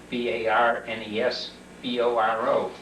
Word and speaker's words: Barnesboro: a little mining town called barnesboro Pennsylvania barnesboro is spelled b a r n s b o r o barnsboro the town that uh is closest to